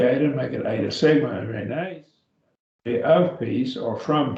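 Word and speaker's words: εἰρήνη: Irene, Irene, Irene, and that is peace, peace. And that's nominative case again. If we drop the eta, make it eta sigma, Irene, be of peace or from peace or originating with peace.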